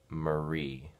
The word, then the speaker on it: Mari: one from vilasa lot mrs. Madrid's name is pronounced Marie thank you yeah you